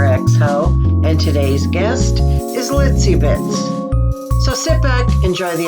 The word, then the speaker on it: Litzi Bitz: TZ oh cute okay pronounce kind of like a little bit it's also my clown